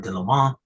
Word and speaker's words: Leaumont: Thank you once again to Don Leaumont. That is the correct pronunciation of his name.